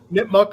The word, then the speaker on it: Nipmuc: Nipmuc High School, and I'm gonna say Nipmuc High School.